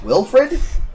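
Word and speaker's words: Wylfried: as a character whose name is Wilfred, if I remember correctly, but it's spelled Will with a W-Y-L, Fried, like Siegfried.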